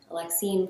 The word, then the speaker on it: Alexine: Alexine pronounced like Alexis.